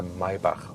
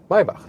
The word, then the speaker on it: Maybach: The EQS SUV will not receive an AMG version, but it will get a Maybach version. 'Maybach', listen and repeat.